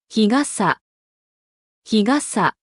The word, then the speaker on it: 日傘: 접이식 우산, 日傘。日傘。 양산, 두 단어 모두 카사가 아니라 가사입니다. 타금이 들어가 있습니다.